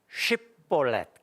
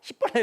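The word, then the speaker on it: שִׁבֹּלֶת: 살롬인지 샬롬인지 그 발음을 시킨 거예요. 그때 사용된 단어가 이거였다고 그럽니다. 이건 성경에 나와 있는 겁니다.이 쉬 이거 이거 요거 샬롬이거든. 아 이건 폴렛이구나. 우리는 쉬볼렛 그러잖아. 쉬 쉬볼렛이 아니 발음 잘해야 됩니다. 쉬잖아. 쉬벌레 하잖아요. 근데 갈릴리 사람들 그게 안 되는 거예요. 벌레 십벌레 이러니까 저 있어 유대 지방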